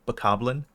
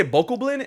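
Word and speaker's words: Bokoblin: Goblin it is yeah people say vocal blind and I'm like no it's bakoblin okay well yeah okay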